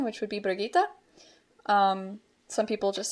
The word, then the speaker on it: Brigitte: So I give her the German pronunciation, which would be Brigitte. Some people just say Bridget.